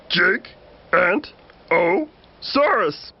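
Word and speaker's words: Giganotosaurus: I'm Gigantosaurus, the longest meat-eating dino who ever lived. You say my name like this. Jig-Ant-O-Saurus.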